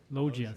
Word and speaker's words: loggia: I don't know how to pronounce that. Is it Loggia? Logia? Loggia, thank you.